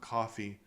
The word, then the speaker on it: Coffey: the character's name is John Coffey, like like the drink, but not spelled the same.